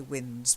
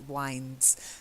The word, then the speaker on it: winds: a hundred cents certain I think I heard you say wins but whines so she's got pearls